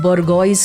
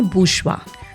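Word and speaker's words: bourgeois: नहीं एक है जिसका स्पेलिंग है बर्गोइस करके और उसका प्रोनंसिएशन है बुशवा।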